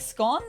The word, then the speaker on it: scone: Are there is it meant to be like scon or scones depending on how you pronounce them? I always pronounce them as scon.